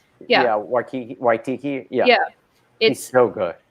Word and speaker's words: Waititi: Yeah, Waititi.